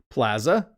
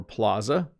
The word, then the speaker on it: plaza: Plaza or plaza. Interesting, isn't it? We have two pronunciations of this word.